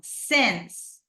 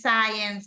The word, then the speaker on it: since: Miren esta expresión, since. A veces hay problemas en la pronunciación de esta. Okay? No es science, no. Since, like this.